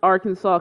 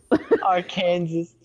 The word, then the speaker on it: Arkansas: so you know arkansas you must pronounce arkansas correctly or you get our kansas or you get what